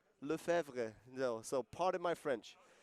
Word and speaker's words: Lefebvre: How do you pronounce that name correctly? Lefebvre. Lefebvre.